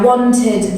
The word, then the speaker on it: wanted: So that if the word ends in T or D, you pronounce the ED as id. So I wanted this, I needed this.